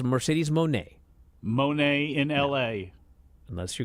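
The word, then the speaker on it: Moné: that uh it's Mercedes M no it's Mercedes Monae Monae in La unless you're going to call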